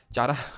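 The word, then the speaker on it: Chara: example की अगर बात करेंगे तो स्पायरो गैरा यूथस उलवा और चारा इसके क्या है चारा तो बोल देना वैसे कारा इसको प्रोनाउंस करते हैं ठीक है चारा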